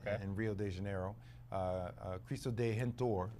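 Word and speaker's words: Cristo Redentor: Rio de Janeiro uh chisto de hentor is how you say it in Portuguese and it was on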